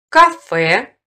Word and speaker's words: кафе: В иноязычных словах с буквой «е» произносится твердый согласный. Кафе, партер, индекс.